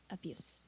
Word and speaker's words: abuse: s 발음을 하시면 성대를 안 울리고 이렇게 하시면 abuse, misuse, use 이렇게 하시면 명사예요.